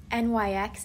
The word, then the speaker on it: NYX: I just learned that it's pronounced NYX.